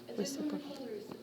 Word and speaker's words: reciprocal: do you say reciprocal it's spelled like this re sip pro call reciprocal reciprocal a lot of times